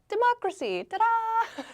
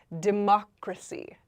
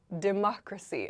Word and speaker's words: democracy: The pronunciation is democracy. Democracy. I know it looks kind of like democracy, or something like that. Democracy. Democracy. So, the emphasis Oops. The emphasis is on the mock right here.